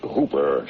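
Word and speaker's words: Houper: Sheriff ER the names Hooper spelled h o u p e r but pronounced a rhyme with Cooper yeah I got it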